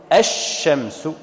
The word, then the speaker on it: الشمس: قالوا لام التعريف، فلام التعريف نقول الشمس، الشعر، فأضغمنا لام التعريف في الشين.